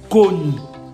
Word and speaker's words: Connie: Connie. Sauf qu'en lingala, on va prononcer Connie.